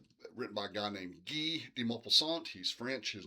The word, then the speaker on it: Guy: Okay, so in the short story called The False Jewels or The Jewelry, written by a guy named Guy de Maupassant. He's French. His name is pronounced Guy, not Guy.